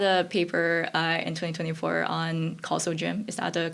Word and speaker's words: CausalGym: To build on that you had a paper in 2024 on Calso gym. Is that the correct way to pronounce it?